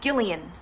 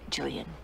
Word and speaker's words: Gillian: It's Gillian, with a hard G. Gillian. But we always call you Jillian.